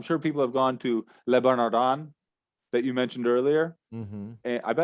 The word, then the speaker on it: Le Bernardin: I'm sure people have gone to Le Bernardin that you mentioned earlier. And I bet I'd be interested to look at the Google reviews for that. Adam, your French pronunciation is absolutely awful. Le Bernardin.